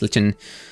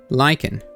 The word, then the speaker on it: lichen: We're just going to figure out how that's pronounced cuz apparently we're going to have to pronounce it several times. Um, lychen. Lien. Lychen. Lyken. All right. No, I was correct at first then.